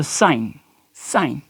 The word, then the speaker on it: sign: अब अगर I और N के दरमियान में G आ जाता है तो फिर क्या होगा, G यहाँ पे प्रनाउंस नहीं किया जाएगा लेकिन लिखा ज़रूर जाएगा। मिसाल के तौर पे यहाँ पे हमने एग्जांपल भी दी है, साइन डिज़ाइन। इस तरीके से अगर हम